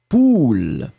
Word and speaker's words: poule: Le premier A, on va le prononcer très très rondement, ou, poule.